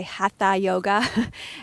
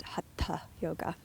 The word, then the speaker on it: Hatha yoga: it is in the west we often Say Ha yoga and is correctly pronounced hat yoga so just thought I would say that in